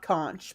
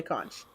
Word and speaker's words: conch: I think it's pronounced not conch, but I always say conch.